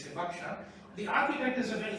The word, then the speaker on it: Hibakusha: Hibakusha is not the right pronunciation, it's Hibakusha.